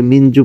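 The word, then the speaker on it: مِنْ جُوعٍ: জন্য সহজ হয়ে যাবে মানজু পড়লেও ক্ষতি নেই তবে মিনজু পড়বেন মিনজু মিন জু এই জু এসে আইন কে ধরবে আইনের এখানে অকফ হবে যদি অকফ করেন তাহলে মিন জু আইনের উচ্চারণটা ঠিকমত করবেন মিন যদি আপনি মিলায়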